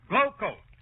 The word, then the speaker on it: Glo-Coat: And GLO-COAT is pronounced Glowcoat.